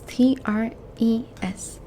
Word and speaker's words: tres: The number 3 is written as T-R-E-S. Tres. 3, tres. Tres. Okay? Try and roll that R for me.